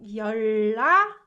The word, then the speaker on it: 연락하다: Do you guys notice that I pronounce it like 연락하다? So this combination we learned, right? 윽 with h produces k, right? So this is not difficult to understand, but this one is the new one. So when 은 sound is combined with l sound, what we do is we tend to kind of make 은 sound into 을 sound to make it more comfortably pronounced.